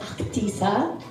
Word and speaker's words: Ahtisa: It's actually supposed to be pronounced Actisa.